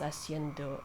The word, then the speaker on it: haciendo: No, wait, I'm not supposed to pronounce H. ¿Qué estás haciendo aquí?